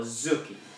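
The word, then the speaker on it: 突き: So, what is Tsuki, or Zuki, as it's otherwise pronounced?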